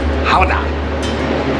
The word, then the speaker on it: Gouda: Fun fact, the name of Gouda cheese actually comes from the town that it was sold at, which in the Netherlands is pronounced Gouda.